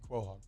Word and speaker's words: quahog: I felt like in Family Guy, they always say quahog. And I corrected you. But I got a text from somebody who lived in Rhode Island, and it indeed is quahog. Hell yeah. I'm supposed to pronounce the QUO there.